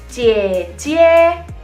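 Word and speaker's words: 姐姐: Kalau kakak perempuan kita bacanya jie jie.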